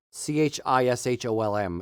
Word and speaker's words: Chisholm: found on Chisholm lands c-h-i-s-h-o-l-m is how you spell it how you pronounce it it's Chisholm um Chisholm lands in Scotland